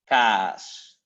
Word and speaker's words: kaas: And cheese, it's long. Kaas.